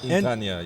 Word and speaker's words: Entaniya: I was going to say, how do I pronounce it? Yeah, it's a little difficult. Entaniya, yes.